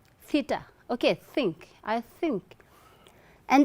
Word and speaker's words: theta: See, your upper incisors and your tongue, and then you need to blow air through the space. Think, think, theta.